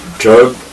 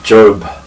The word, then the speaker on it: Job: the letter J and now pronounced as job and so pretty different from the original Hebrew pronunciation which is e of